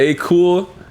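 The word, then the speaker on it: Akoul: the letter a a-k-o-u-l so it was like cool the beginning of my last name last name yeah yeah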